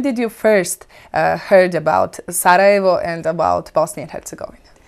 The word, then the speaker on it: Sarajevo: Of course, then I didn't know it was pronounced Sarajevo. We pronounced it at school Sarajevo, which I now know is completely wrong.